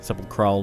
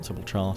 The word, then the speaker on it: sepulchral: Sepulchral, not Sepulchar, Sepulchral.